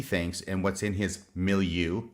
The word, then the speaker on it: milieu: what's in his milieu I keep looking at the camera because I'm working on my pronunciation of that word milieu I think is correct I've been saying it wrong for so long and Martine was nice enough to smack me over the head and correct me a number of